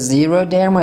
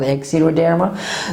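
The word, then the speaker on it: xeroderma: means yellowish skin the yellowish skin it is zero therma it's not x0 derma so x but what time do you pronounce it x like when we use x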